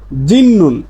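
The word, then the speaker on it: 짓는: তারপরে নিমন পাইছেন তাহলে সিউতের উচ্চারণটা ত না হয়ে হবে ন এজন্য এর উচ্চারণটা হবে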